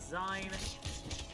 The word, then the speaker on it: zine: be pronounced is it gene is it zion and someone said it should be pronounced seen because it's short for magazines yeah wait you didn't